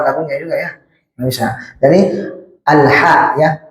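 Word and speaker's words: الْحَمْدُ: Bisa jadi alha ya. Alha jangan alah ya.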